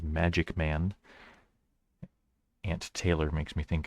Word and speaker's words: MaqicMan: makik man uh though that Q looks like a g so it's probably meant to be pronounced as magic man Aunt Taylor makes me